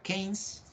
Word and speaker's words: Keynes: En 1936, fijaros qué año más malo para España, hay un economista británico que es John Maynard Keynes, y ahí pone pronunciado Keynes, no Keynes, ¿vale?